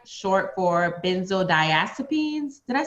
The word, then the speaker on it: benzodiazepines: unpacking benzos and opioids that's right short for benzodiazepines did i say that writer you said it